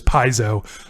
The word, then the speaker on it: Piezo: word paizo we couldn't figure out how to pronounce uh that track title from amber but i believe it is paizo um and tomas directs us to wikipedia quote